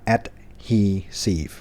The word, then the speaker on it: adhesive: ผม ก็ อ่าน ให้ แล้ว ว่า อ่าน ว่า adhesive นะ ครับ ที่ แปล ว่า ติด แปะ แปล